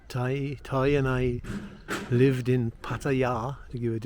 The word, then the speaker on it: Pattaya: Why, I don't know, because I know when Toy and I lived in Pattaya, to give it its correct pronunciation, by the time, if Toy had had